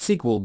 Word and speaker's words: SQL: using structured query language this language is abbreviated as SQL but it's usually pronounced SQL by data professionals first let's create an